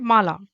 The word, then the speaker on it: माला: In Hindi, we call it dhwani, and mala is M-A-L-A. You can pronounce ma-la.